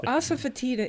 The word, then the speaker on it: asafoetida: So, asafoetida is spelled ASA as in asa. Fotida is FOE. There's the sneaky letter.